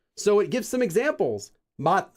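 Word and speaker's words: 맛: Mat for flavor is mat, not mas, like that.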